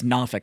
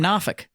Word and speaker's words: Norfolk: It's up there it's Nofolk. I lived in Virginia Beach for like 2 years. I'm like, "Oh, I live out in Nofolk." I'm like I'm going to need you to spell that for me. Cuz I'm pretty sure that has an R in it.